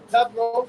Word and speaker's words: Pathros: left from Assyria and from Egypt and from Pathros.